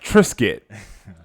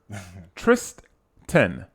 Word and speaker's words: Tristan: You said it like Trisket. I'm not with y'all, brother. Tristan. Okay. Tristan. Okay. You're saying Tristan.